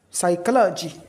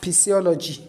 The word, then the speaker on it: psychology: Psychology. Psychology. We not say physiology. Psychology. P is totally not pronounced at all.